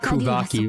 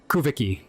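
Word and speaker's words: Kuuvahki: Okay, I'm pronouncing it Kvaki pretty slowly. The Japanese voice actors say it really quickly. Kuviki. kind of like that. So, I'll probably pronounce it both ways depending on my how tired I am.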